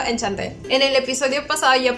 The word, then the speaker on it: Enchanté: Que por cierto, busqué en el traductor y supuestamente se pronuncia Enchanté o algo así. Pero le vamos a seguir diciendo Enchanté.